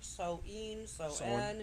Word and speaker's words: Soen: Soen. Yeah, it's sewing.